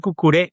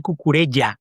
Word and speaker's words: Cucurella: cosa, no se dice cucuré, no se dice cucurela, se dice cucurella, se pronuncia la doble L.